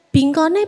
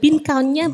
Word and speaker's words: bingon: pengucapan dalam bahasa Inggris Biasanya kita bingonnya berapa bingonnya berapa bukan bingounnya berapa Gu Jadi itu kita